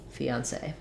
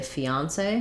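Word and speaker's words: fiancé: in english fee um say fiance sometimes people will also say fiance with stress on the on fiance fiance i think you can say both and i believe that both are correct um i don't have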